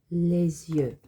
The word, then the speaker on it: les yeux: end of les, but in front of the Y, it kind of functions like a vowel, so you make a liaison, les yeux.